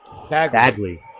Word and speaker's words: Bagley: Is it Bagley? How do I say his name? Baggley.